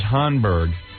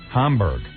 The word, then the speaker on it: Hamburg: Is it Hanburgg or Hamburgg? Hamburg.